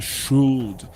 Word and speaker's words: should: aqui é o should esse L aí do shud ele não é pronunciado shud Tá certo que alguns pessoas de algumas regiões eles falam com o l um pouco puxado mas na forma padrão esse l não sai só sai assim ó should should should good